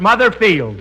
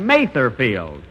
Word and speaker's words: Mather Field: Mother's Day and we're at mother field that's uh that's Mather field and although I pronounced it wrong last week I and